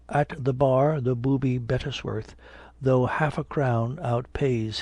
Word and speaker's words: Bettesworth: "Sir," says he, "I am Sergeant Bettesworth." In his usual pompous way of pronouncing his name in 3 distinct syllables, "Of what regiment, pray?"